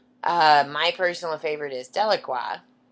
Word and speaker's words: Delacroix: couple of them uh my personal favorite is delaqua spelled d l a c r o i